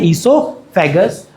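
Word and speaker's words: oesophagus: अब बात करते हैं ओसोफेगस की। अब खाना ओसोफेगस या उसको इससोफेगस कहते हैं। ओ is silent. O is silent. उसको बोला जाता है इसोफेगस।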